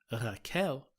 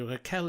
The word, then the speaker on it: Rachel: She was very generous and said, "Oh, you just pronounced it the Spanish way. Rachel is completely fine." And I would also answer to Rachel. But FYI, everyone, it's Rachel.